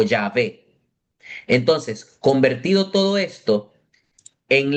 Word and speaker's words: Yahvé: Entonces, la pronunciación más correcta del nombre de Dios en español que proviene del latín es Yahvé, no Jehová.